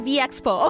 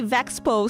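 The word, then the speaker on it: VExpo: Oh, it's pronounced V Expo. Okay. Okay. Thank God cuz that's what I've been calling it. But then I heard some people say Vexo, so I started to question myself.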